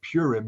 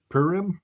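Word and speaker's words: Purim: know what uh and I mispronounced it but it's not purm it's PM I guess the holiday you know what the holiday they just had it perim um it's the celebration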